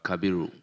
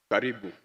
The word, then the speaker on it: Kabiru: Speaker, just to say that the clerk at the table calls it Karibu. So take note next time. For the 2 days of pronunciation, you've been calling my name Karibu.